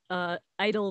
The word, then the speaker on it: Idyll: It's called Idle Days, but it's spelled I-D-Y-L-L, as in idyllic.